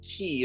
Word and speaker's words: Chi: There's a Greek letter Chi, which is X, but they explain in Kingdom Hearts 2 that is not pronounced Kai for them. It's pronounced Key, so that they can Like a put X in keyblade.